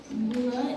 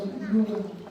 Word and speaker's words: Bula: The letter B is pronounced with an M sound before the B sound, like in bamboo. Bula is not bula, but it is pronounced as bula.